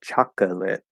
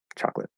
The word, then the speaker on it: chocolate: at all there um if I keep that second syllable I would say chocolate um or maybe even chocolate with an O but normally I don't say that second syllable chocolate um so that might